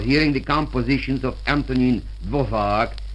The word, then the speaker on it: Dvořák: One cannot listen very long on the radio without hearing the compositions of Antonín Dvořák, or it's pronounced Dvořák in America, and those of Rudolf Trimov.